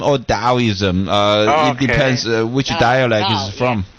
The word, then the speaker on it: Taoism: t-a-o but in actually in original chinese pronunciation that's a d-a-o so so either way either way it's taoism or taoism uh it depends which